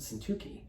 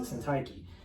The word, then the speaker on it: Syntyche: For example, I pronounce it Syntyche, he pronounces it Syntyche.